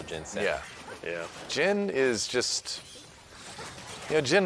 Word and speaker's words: Jhin: Jhin rhymes with win, but that doesn't matter because he can't.